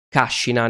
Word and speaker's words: Cascina: nei pressi di cascina si scrive cascina non ed a pronunciarsi cascina come la parola italiana che intende quel luogo bucolico no e si accampano